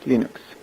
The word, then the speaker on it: Linux: is lenus thals and I pronounce lenux as Linux lenus thals he is